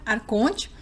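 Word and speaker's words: archon: Então, não há palavra copta egípcio antigo, para arconte. Então, os textos gnósticos usam o termo grego da transliteração copta, que é pronunciado arcon.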